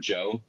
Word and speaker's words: Djo: I just listened to a new project by an artist called Joe, and it's spelled DJO, and the person is Joe Carey, who plays Steve in Stranger Things, and his project was insane.